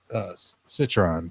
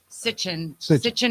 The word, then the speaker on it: Sitchin: And Zach Citron, right? Sitchin and Budge. Saying his name wrong.